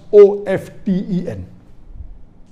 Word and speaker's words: often: Some will say often, some will say often. Previously it was often, then it became often. Now new people are saying often is correct. T is not silent, it should be pronounced. Some say T is silent, and then there's a big debate for that.